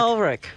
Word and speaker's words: Ulrich: How do you say it, Ulrich? Ulrich.